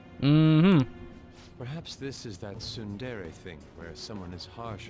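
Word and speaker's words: ツンデレ: Perhaps this is that tsundere thing, where someone is harsh or sweet depending on the mood.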